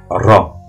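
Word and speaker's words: راء: première en fait c'est la lettre RA c'est comme un r espagnol elle n'a pas de point et c'est un r roulé ça fait RA RA RA la deuxième lettre c'est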